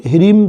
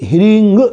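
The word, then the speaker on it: ह्रीं: मां महालक्ष्मी का मंत्र ऐसे कई लोग क्रीम का उच्चारण करते हैं किंतु विद्वानों के मतानुसार यह हींग शब्द का प्रयोग होना चाहिए और क्लीनिंग निकली और क्लीन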